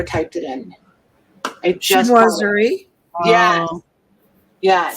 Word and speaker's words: chinoiserie: I just Chinoiserie.